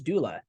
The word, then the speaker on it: Doola: And then one of the names that came up was Doola. It was 5 letters. It was the .com, had 2 O's like Google. And some folks said, hey, it sounds like the word doula, Doula, who is someone who